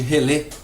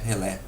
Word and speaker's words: relé: relé para vocês ok Alguns chamam também de relê por influência do termo relay inglês mas a influência francesa é realmente maior Então o que se chama oficialmente Como se pronuncia oficialmente é relé Ok então vamos lá